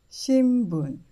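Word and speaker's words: 新聞: 新聞、新聞、新聞。Please remember that if N is followed by B, P or M, N is pronounced as M.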